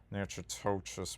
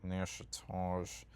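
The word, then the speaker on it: Natchitoches: I used I used to always pronounce it nachotois, but it's like pronounced like Nashage.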